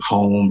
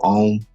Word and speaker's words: Homme: Like people pronounce it home instead of Homme.